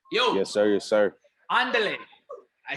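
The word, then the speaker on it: Ándale: Andale.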